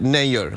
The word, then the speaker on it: Nayyar: Yeah, it's like actually in India you pronounce it Nayyar, like Mayor.